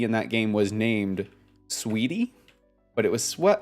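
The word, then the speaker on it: Sweetea: that game was named sweetie but it was SW it was spelled swe t EA but pronounced sweetie that was fun that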